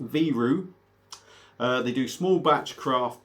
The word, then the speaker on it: Viru: so like i say out of estonia it's pronounced viru they do small batch craft beer this is